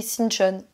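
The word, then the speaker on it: Sinchon: voyage là c'est shinchon ça s'écrit shinchon mais on m'a dit de dire shinchon donc je dis shinchon shinchon c'est à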